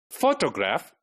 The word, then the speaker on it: photograph: Okay, photograph. This is a word which has 3 syllables, but the first one is made prominent, right? It is on the first one, right?